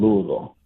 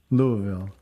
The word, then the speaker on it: Louisville: where are you calling from I'm calling from Louisville Kentucky Louisville Kentucky well welcome to the program